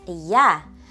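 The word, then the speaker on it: ja: I in Serbian is yah. The pneummonic we can use here is think of the word I pronounced a y. Reversed it and it becomes yah. Y a which sounds like yah.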